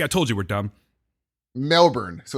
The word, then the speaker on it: Melbourne: Melbourne is pronounced Melbourne instead of Melbourne.